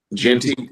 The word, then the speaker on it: Jeanty: How you pronounce Jeanty? How you say it? Jeanty, yeah.